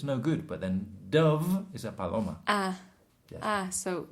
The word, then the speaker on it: Dove: The product on the TV and the adverts is called dove. But the Spanish people will say duff.